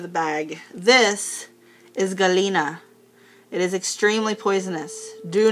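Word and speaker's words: galena: it with my hands so again that is pronounced Galina and it is poisonous so please don't touch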